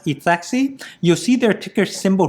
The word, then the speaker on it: ETHXY: So right over here, it's always hard to pronounce, okay? ETHXY, so I pronounce it as ETHEXY.